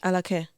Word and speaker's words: Alake: And I guess Sorry, my pronunciation is going to be bad. Alake? Alake. Alake. Okay.